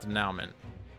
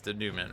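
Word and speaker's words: dénouement: Also, I've been told this is not Denouement. It's Denouement or something. I just have never seen the word before, so I pronounced it the way I thought it would, and it was dead wrong.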